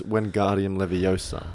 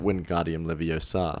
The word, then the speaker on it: Wingardium Leviosa: it would be like it's Wingardium Leviosa, not Wingardium Leviosa, says Hermione.